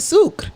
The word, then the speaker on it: sucre: And you pronounce it sucre, and it's pronounced and it's spelled like how his name.